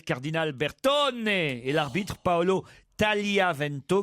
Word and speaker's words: Tagliavento: Première leçon, on doit dire Cardinal Bertone et l'arbitre Paolo Tagliavento, car on ne prononce pas le G.